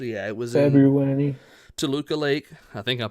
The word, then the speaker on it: Toluca Lake: in Toluca Lake. I think I'm pronouncing that correct.